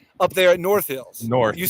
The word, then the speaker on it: North Hills: the emphasis so it's North Hills emphasis on the Hills just like emphasis on the York not like South Park